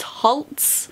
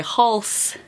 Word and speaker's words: Halse: by Laurie Halse Anderson apparently it's halts there's a poem near the end of the book where she's like halts rhymes with waltz I'm like oh for years I've been calling her Laurie Halse Anderson shout is Anderson's life